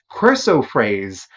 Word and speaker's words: chrysoprase: Pronounce Chrysoprase. Chrysoprase.